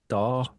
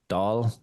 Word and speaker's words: Dáil: So the I-Fada kind of gives it, but the AI-Fada, gives it an R sound, like, so Dáil. It's kind of like y'all, but Dáil.